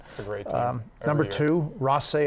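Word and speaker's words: Rothesay: a great number to Ross a high school who of course I used to pronounce Rafa say high school but learn that number three is Harrison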